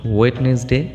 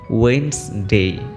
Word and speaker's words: Wednesday: a big problems day Wednesday not Wednesday it will be Wayne's day Thursday is Friday Friday